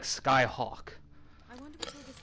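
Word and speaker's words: Scáthach: name's supposed to be pronounced like Skyhawk.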